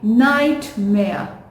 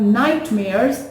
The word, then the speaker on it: nightmare: m a r a again this word has r e in the end so we will not pronounce it or we instead we will say uh so it's going to be nightmare nightmare right she woke